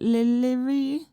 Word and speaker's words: Lirie: I'll just like stutter at it, like Lirie. Lirie. I don't know. My name's only 2 syllables.